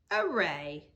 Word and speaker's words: array: Now, we're going to draw an array. Now, we have done this before. We did it in grade 1. Array. It rhymes with day, so it ends in AY.